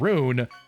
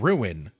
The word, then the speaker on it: Rune: And I've constantly been calling the book Realm and Rune, Realm and Ruin.